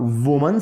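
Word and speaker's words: women: तो man drivers, और वुमन servant तो विमन सर्वेंट। वुमन सिंगुलर के लिए बोलते हैं और उसकी जो प्लूरल होता है, उसकी जो प्रोनाउंसिएशन होती है वो विमन होती है, यानी कि वुमन सर्वेंट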